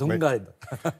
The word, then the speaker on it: Lundgren: du mal à prononcer son nom, donc... Exactement. Dolph Lundgren. Lundgren. C'est ça, c'est Lundgren.